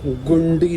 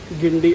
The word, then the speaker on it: Guindy: इस स्टेशन का नाम है गिंडी और मैंने उससे बोल दिया गुंडी। उसकी स्पेलिंग ऐसे है GUINDY, गुंडी। तो मैंने उससे गुंडी बोल दिया। वो कह रहा है नो नॉट अ गुंडी, गिंडी।